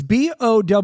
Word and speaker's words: Bowe: It's Bowe. I think the E is silent. I don't think it's Bowie.